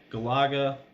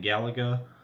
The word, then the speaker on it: Galaga: I mean, it's got Galaga. I believe that's actually the right way to pronounce it. I grew up saying Galaga, but yeah, that's one of my favorite games.